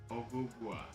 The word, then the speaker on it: Ogugua: Ogugua. Ogugua. Ogugua. Oh. Ogugua. So there's a big old pause between the O and the G.